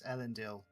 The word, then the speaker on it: Ealendil: So, how do you say it? Ealendil? It's Ealendil. Ealendil.